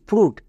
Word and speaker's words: fruit: আরেকটা টিপস শেখা হয়ে যাবে, FRUIT ফ্রুট। একই রকমভাবে এখানেও ইউআই আছে, ইউআই আর এবং টি এর মাঝে আছে। আর এবং টি ওই টিপসের মধ্যে পড়ছে না?